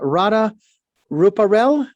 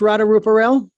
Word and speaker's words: Radha Ruparell: be with you and i've got your name pronounced radar rupaul you've got it perfectly uh great i'm glad